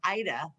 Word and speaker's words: Aida: said that yeah because most people would say ada and it's not it's pronounced ida which is the ida